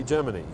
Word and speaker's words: Gemini: Well, I'm right, of course, because I took Latin, and in Latin, you pronounce Gemini, Gemini, just like you pronounce, well, even in English, you pronounce bikini, bikini. You don't say bikini.